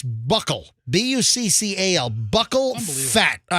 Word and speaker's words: buccal: So this is the pronunciation, and I believe it's buckle.